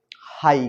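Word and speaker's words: high: ये क्या लिखा है हाई क्या लिखा है हाई है ना अब ये हाई लिखा है तो ध्यान से देखो ये हाई घ क्यों नहीं क्योंकि जीच का तो घ होता है है ना एक वर्ड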